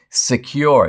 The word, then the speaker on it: Sekur: Secure, it's spelled S-E-K-U-R, offers secure instant messaging